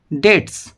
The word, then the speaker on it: debts: টু পে হিজ ডেটস। দেখো এখানে bitter উচ্চারণ কিন্তু হবে না, DEBTS, ডেটস মানে হচ্ছে ঋণ।